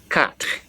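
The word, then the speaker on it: quatre: I was saying cut how do you spell Q you a t r e so q u a t r e that is cut cut of course if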